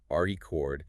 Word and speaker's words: record: It's a vinyl record or a written record. Right? If I stress the second syllable record, it's a verb. It's the action of recording sound.